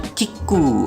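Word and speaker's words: キック: Ini bacanya Kiku atau kick. Bahasa Jepangnya, jadi kalau dia mau ngeluarin rider kick nih, dia nyala nih kalau di acaranya sih.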